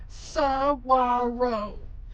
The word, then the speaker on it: Saguaro: So it's spelled Saguaro, but we just learned, I'm gonna butcher it again, it's Saguaro. So the GU sounds like a W. So we're going to Saguaro National Park.